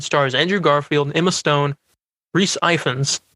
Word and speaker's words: Rhys Ifans: by Vanderbilt, and stars Andrew Garfield, Emma Stone, Rhys Ifans, right?